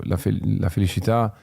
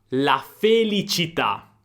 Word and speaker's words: felicità: la felicità, la felicità, l'accento di Bocelli è toscano e quindi il suono della C è un po' particolare, infatti non dice propriamente felicità, cità città, ma la c diventa un po' una shelicità.